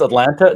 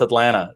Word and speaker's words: Atlanta: in atlanta so um yeah people think it's atlanta no it's atlanta dublin that's right it's all those local local